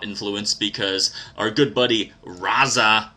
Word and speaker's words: RZA: because our good buddy razza who I think that's why you say his name it's just spelled RZA um he's a member